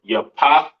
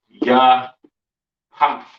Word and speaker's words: Japheth: Yah path. The pa and tha sound connect at the end of that word.